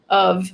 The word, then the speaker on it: of: reading it all but of should be spelled with a v it's pronounced very clearly as of um and you know